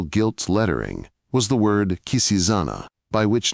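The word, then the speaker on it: Quisisana: lettering was the word Kisana by which name the retired little dwelling was known throughout the town where they pronounced it with a very soft s and a very broad a.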